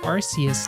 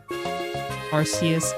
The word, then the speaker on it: Arceus: I guess it's pronounced Arceus now, huh? I was one of those Pokemons where I wasn't quite sure how you're supposed to pronounce it.